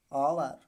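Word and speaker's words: hour: ओ से पहले क्या है, एच है, तो साइलेंट हो जाएगा। तो क्या हो जाएगा, ऑनेस्ट, ऑनेस्ट, ऑवर।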